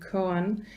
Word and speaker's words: koan: Suzuki's, and the I Ching, sorry, any mispronunciation, prompted by the phonetic coincidence between cone and koan, as in the K-O-A-N, the Zen meditation device.